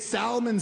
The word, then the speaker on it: salmon: Like, I should have known that we weren't going to be compatible uh the second I heard her pronounce the L in salmon.